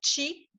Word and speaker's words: Qi: Nous, on l'écrit comme, et en général, il s'écrit plus comme, je vais te le dire, là, QI pour chi, Oui, puis Kong, au lieu d'un K, c'est un G-O-N-G.